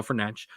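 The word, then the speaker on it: Fernandes: as well uh Bruno fernan great uh I'm going to do my best to pronounce his the actual correct way uh not the way 99% of us mispronounce it but Bruno fanch was great uh and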